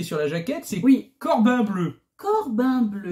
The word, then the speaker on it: Corbin Bleu: Alors, notre personnage qui est sur la jaquette, c'est Corbin Bleu. Corbin Bleu. Je vous jure, je le prononce pas mal. Hein, non, c'est vraiment écrit bleu.